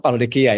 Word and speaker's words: Laodikia: Saya ini pengucapannya jangan sampai salah Laodikia ya.